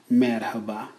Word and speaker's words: merhaba: First of all, we have merhaba. Merhaba. It means hello. Sometimes you'll hear some Turkish people say it without the H, and it'll sound like merhaba, merhaba. Either way, you're saying it right.